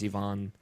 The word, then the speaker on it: Ivon: uh Ivon leovic uh who I previously pronounced it as Ivan I believe it is Ivon uh he specified in chat that you pronounce it e v o n like ion uh say my um